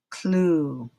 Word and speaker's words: clue: Relative vowel sound, Number 13, I forgot to say, you see two vowels. Second one is silent, so we do the alphabet vowel sound, ooh, clue.